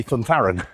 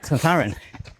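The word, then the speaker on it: Zunzarren: You probably heard it pronounced as at the weekend, but he's Spanish. So Right. it actually would be Thuntharan. Thuntharan.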